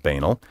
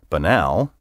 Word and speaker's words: banal: I prefer for example you may have heard someone say banal or banal or perhaps even panel in my first book